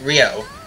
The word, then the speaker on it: Ryo: I've heard people call him Rue, but I'm pretty sure they don't know what the fuck is going on. So, Rio Robert. Oh yeah. KOF. 94-95, it's pronounced Rio. Yep, as it should be.